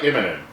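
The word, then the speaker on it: Immonen: to pronounce it uh I like imin imin just kind of like like like imminent like falling down like a cliff imminent it's an imminent descent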